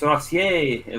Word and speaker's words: Rossi: Is it Rossi? Rossi. It's Rossier. Well, how do you say it? Rossier. You've been doing it right. Don't overthink it.